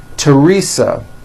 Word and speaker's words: Teresa: Although these next words and names are spelled with a TH, they are pronounced as if they were spelled with a normal T, like that.